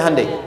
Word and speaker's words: Hyundai: Sejak anak-anak TK itu ditanamkan betul kita bisa kita dari tekad sehingga ketika di sana bikin Honda sini Hande Hyundai kan dibacanya Handai ya kan sana Honda